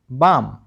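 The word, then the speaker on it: balm: सी ए एल एम काम ना कि कालम ठीक है बी ए एल एम बालम नहीं बाम ए एल एम एस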